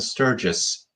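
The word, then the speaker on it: Sturgess: Is that how you pronounce it? Sturgis? Yeah, that's right.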